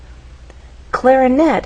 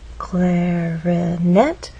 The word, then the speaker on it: clarinet: our voice glide up clarinet has three syllables clarinet but it's the final syllable that is stressed and there's a pause